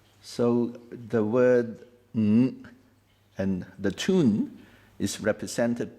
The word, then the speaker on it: Ng: Ng is a nasal sound.